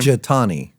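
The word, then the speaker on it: Jethani: Jathani.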